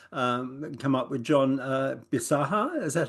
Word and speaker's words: Bisaha: a new singer um come up with John bisaha is that how you pronounce that yes correct correct uh what was